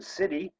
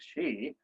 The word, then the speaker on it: Sidhe: spelled, I pronounced it Sidhe for quite a long time, until John Matthews very kindly corrected me and said, you know, it's really called shee. It's a Gaelic word.